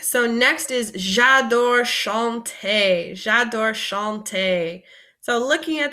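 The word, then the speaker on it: chanter: means to sing so Shante say this word for me Shante and this makes like a sh sound like you're shushing someone so Shante so I love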